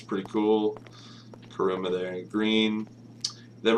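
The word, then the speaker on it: Kuruma: we are the uh Sultan and the kuma karuma yeah that's how you say it basically like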